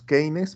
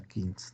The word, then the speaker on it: Keynes: Los que hablamos español le decimos Keynes, pero se pronuncia Keynes, ¿no?